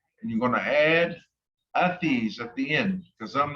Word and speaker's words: vres: And you're going to add the letters VRES, which is pronounced athis, at the end, or athis.